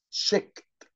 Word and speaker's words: checked: سمارت سمارت سمارت، school uniform school uniform، short sleeved short sleeved، checked checked checked. خلي بالك بننطق الاي دي هنا ت علشان اخر صوت ك، checked checked checked.